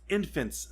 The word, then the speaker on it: Enfys: Enfys Nest. And That's the other supposed villain in the movie. Now it's spelled a different way, but it is pronounced Infant's Nest.